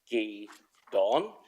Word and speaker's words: guidon: So just to reiterate the importance of the returning of this Gedon, and the correct pronunciation of the word is Gedon, Gedon, and it will be a historic event once it is returned.